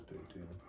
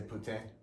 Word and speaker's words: poutine: No, I had a poutine, but their poutine sucks compared to Smokin' George's poutine on the island. You had poutine. Poutine, How do you pronounce it anyway?